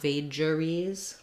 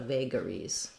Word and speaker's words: vagaries: so in vagaries figurines it is not vageries but vagaries um like the word um vague yeah um again you